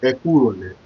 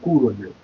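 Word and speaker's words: Ẹ kúrọ̀lẹ́: that you respect him, you pronounce it like Ekurole. You know, the air is still there. You just add the air now. Before it's Kurole. But now it has to be Ekurole, meaning that my love, Ekurole, my love, good evening.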